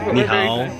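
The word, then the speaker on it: 你好: Ni hao.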